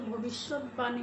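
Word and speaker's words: ভবিষ্যদ্বাণী: যেমন উদ্বেগ, ভবিষ্যৎদানী, এভাবে যদিও লিখি ভবিষ্যৎদানী দয়ের নিচে বফলা হয়, আমরা কিন্তু ভবিষ্যৎবাণী বলি।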